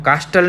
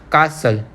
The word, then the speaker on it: castle: We pronounce it as castle. Okay, हम कास्टल नहीं बोलते उसको। ओके, हम उसको कास्टल नहीं बोलते। क्या बोलते हम उसको? कासल। Okay, so here T is silent.